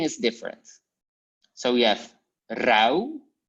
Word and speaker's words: rauw: In the pronunciation, there's no difference, but only with the writing. So you have like rauw in the writing and zout, but you pronounce it the same way. Au and au.